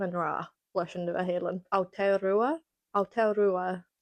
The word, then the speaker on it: Aotearoa: rá leis an Nua-Shéalainn Aotearoa I struggle to say that but I know that's how you say it in Maori.